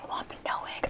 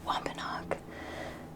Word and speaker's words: Wampanoag: first to admit that I have not been pronouncing the Native American tribe of this area correctly. The Wampanoag. Yes, Wampanoag. I was saying Wampanoag. I was saying all kinds of crazy stuff. I'm sorry. I apologize, and I'm going to just say that right now. It's Wampanoag.